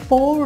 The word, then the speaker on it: pour: সো উচ্চারণের দিক দিয়ে দুটোই একই, বাট এই পোর হচ্ছে ঢালা। আমরা অনেক সময় এটাকে পাওর বলি, বাট পোর মানে হচ্ছে ঢালা।